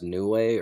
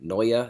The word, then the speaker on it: Neue: Is it Baybest Neue or Noya is actually how it's pronounced.